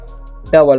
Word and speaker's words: double: इसे पढ़ने हम लोग डबल, क्या पढ़ते हैं डबल पढ़ते हैं, ठीक है। ओयू का उच्चारण अ हो रहा है यहाँ पर, ठीक है, ध्यान रखना है आपको, ओयू का उच्चारण अ होता है।